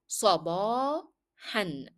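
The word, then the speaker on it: صباحًا: So I said sabahan. Again, I pronounced it an, which is the tanween, though I stopped on the word.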